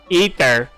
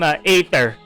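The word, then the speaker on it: Aether: I'm not going to call I'm not going to call uh the main character in the the male M the MC the male MC in Gian Impact Ether. I call her I call him ather I'm not gonna call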